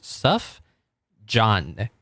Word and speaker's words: Sufjan: No, it's Suff John. How do you pronounce that? I don't know how to pronounce that. But he has a song called Jupiter from an album called Planetarium. So Sufjan.